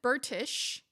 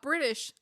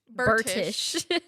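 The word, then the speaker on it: Bertish: We've got Suzanne Burtish, not British. Burtish.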